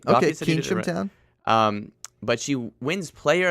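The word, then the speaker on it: Keynsham: Okay, Keensham Town.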